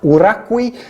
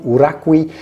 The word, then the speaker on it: Uraqui: Uraqui, that's how you pronounce the name, Uraqui, is made in the